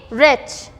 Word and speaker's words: wretch: Wretch. So W is again getting silent here.